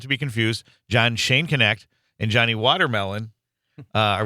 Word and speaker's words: Schoenknecht: very special guest John is a retired Middle School am I pronouncing your name first John um it's Shane connect Shane connect okay my apologies so